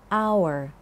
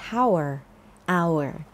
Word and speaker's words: hour: an hour คำ ว่า hour แปล ว่า ชั่วโมง ค่ะ 1 ช่ม an hour ออก เสียง ว่า hour นะ คะ ไม่ ใช่ How hour ขอ โทษ ที่ ทำ